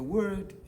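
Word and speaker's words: Wɔ: The word deity in Ghana is called, we have names.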